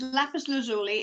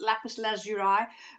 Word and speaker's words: lapis lazuli: this is lapis okay this is lapis lazuli and um or if you're from america it's they they sometimes pronounce it lapis lazurai but that's okay lapis lazuli now what does this